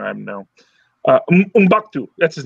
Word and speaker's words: M'Baku: I'm gonna ship the heck out of Shuri and Mkbudu. And I'm pronouncing his name wrong. I know. M'Baku.